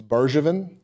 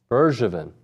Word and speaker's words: Bergevin: They are super excited about Gavin Cash, Wyatt Hensler, and Matthew, we've been saying his last name wrong. It's Bergevin. Bergevin.